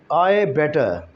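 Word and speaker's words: I'd better: आई हैड बेटर है, लेकिन जो इसको प्रोनाउंस किया जाता है वो होता है आई बेटर, यू बेटर, ही बेटर, शी बेटर। तो इस तरह की प्रोनाउंसिएशन हम करते हैं, यानी कि डी वाला जो हेड वाला पूरा का पूरा वर्ड है वो हम इसमें से स्किप कर देते हैं, प्रोनाउंस करते ही नहीं।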